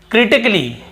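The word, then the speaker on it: critically: नहीं पढ़ रहे हैं फिर देखिए क्रिटिकली क्या होता है क्रिटिकली यहां पर भी ए का उच्चारण नहीं हो रहा है और फिर देखिए रोमांटिकली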